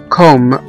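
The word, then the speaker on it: comb: زي مثلا كلمة كوم، C-O-M-B، اللي هو مشت، كوم، اللي هو مشت، احنا ما نطقناش هنا حرف البي.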